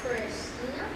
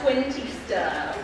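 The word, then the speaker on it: Cuentista: The Last Christina. That is correct. It's pronounced Quintista.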